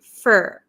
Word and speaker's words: for: say up f f usually in American English this for turns to fur up for up for